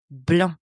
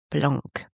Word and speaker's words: blanc: That's white bl. And by the way, just a little side note here. Don't pronounce the C at the end of bl the color white. Bl, not blanc.